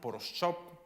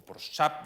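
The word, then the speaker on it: Pourushaspa: Sabemos los nombres de sus padres, que son Poroschop, o Poroschap, depende de cómo lo pronuncias, y Dogdo, su madre.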